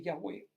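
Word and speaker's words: Yahveh: cual dios se rebela debe llamarse ya muy buenos es una una pronunciación más afín con el hebreo pero a bueno jehová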